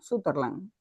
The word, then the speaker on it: Sutherland: Él es, se pronuncia así, profesora, Sutherland.